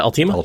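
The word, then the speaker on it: Alteima: Am I pronouncing that right, by the way? Yeah, Altima? Altima.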